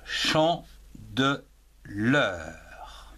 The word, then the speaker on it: Chandeleur: Alors, la Chandeleur, L majuscule A, la, Chandeleur, C-H-A-N, chant, D-E, de, L-E-U, R, l'heure. En 3 syllabes, chant de l'heure.